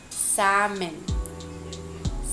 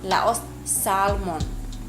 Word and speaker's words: salmon: No ita pronuncia sane. Salmon. Salmon. I love salmon. I love eating salmon. Laos salmon.